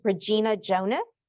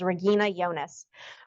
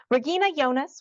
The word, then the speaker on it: Regina Jonas: I guess our ears Regina Jonas is how it's spelled but the German pronunciation is Regina yonas Regina yonas was the first woman